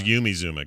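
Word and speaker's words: Yumi Zouma: zuma and not pronounced yummy by the way not pronounced yummy oh no it's yumi zuma got it okay clarification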